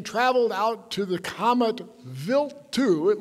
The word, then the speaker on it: Wild: the Stardust mission traveled out to the comet built - it looks like wild - but it has nothing to do with our hockey team it's actually pronounced built to like a VI LT because it's a